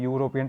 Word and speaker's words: European: Problem क्या है कि यहाँ पर इसको हम यूरोपियन पढ़ रहे हैं, या से उच्चारण हो रहा है, ई साइलेंट है, तो वहाँ पर क्या आ गया, आ यूरोपियन।